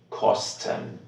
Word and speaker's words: kosten: Divide this word before the S and you will have stun. Stun. This word doesn't have any meaning, so you cannot pronounce it SCHT. Essa palavra não tem nenhum significado sozinha, então você não pode usar a mesma pronúncia. Here you just need to say kosten.